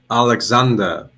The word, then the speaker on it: Aleksandar: Do you know how how do you say Alexander?